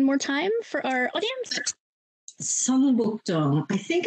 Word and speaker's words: Seongbukdong: Seongbukdong. I think it's spelled Seongbukdong.